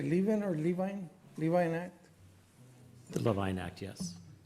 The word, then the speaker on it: Levine Act: Levine Act.